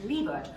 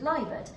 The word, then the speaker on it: Leibert: to talk about is dick leibert or sometimes pronounced liebert although he himself supposedly pronounced it leibert he was born into